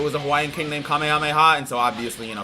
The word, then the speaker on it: Kamehameha: And that's how the name is pronounced. It's Kamehameha.